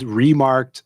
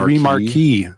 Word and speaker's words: remarque: I feel like it's like remark. Yeah. Rear French word.